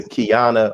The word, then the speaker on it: Qiana: and also a member of kingdom come sister kiana i pronounce that right yes sir got it right